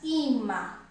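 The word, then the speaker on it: ímã: No ima, a sílaba mais forte é o I. Por quê? Porque o I é acentuado com acento agudo.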